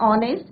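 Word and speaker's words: honest: H silent है, एन ऑनेस्ट, यहाँ few examples are given है, एन आर, एन ऑनेस्ट मैन।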